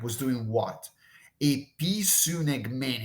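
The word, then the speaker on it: ἐπισυνηγμένη: It's a pretty difficult word to pronounce because it's compound. It's made up of different pieces. All right. So there are two prepositions baked in this verb. There's the preposition epi, and there's the preposition sun.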